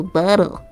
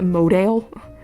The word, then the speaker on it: model: A model. It's model. How did you pronounce that? Did you pronounce it modale?